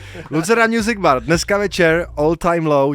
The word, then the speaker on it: Lucerna Music Bar: Lucerna Music Bar.